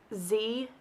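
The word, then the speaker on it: xe: have instituted gender-neutral pronouns pronounced Z ZEM and Zer spelled x-e-x-e-m and x y r these pronouns are encouraged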